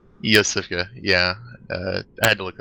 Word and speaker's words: Yosefka: Yosefka, yeah. I had to look up pronunciation.